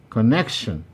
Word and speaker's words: connection: number nine connection connection this also has three syllables and option b is the place where our answer lies because the i the the syllables highlighted neck is the one that receives the primary stress number 10 temptation temptation